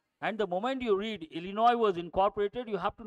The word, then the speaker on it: Illinois: that set over no Illinois underline the letter s as is silent Illinois was incorporated which